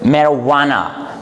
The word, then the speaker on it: marijuana: It is commonly been mispronounced by people, but the correct pronunciation for this word is what? Marijuana.